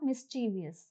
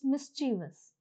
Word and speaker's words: mischievous: The pronunciation is not mischievous, it's mischievous.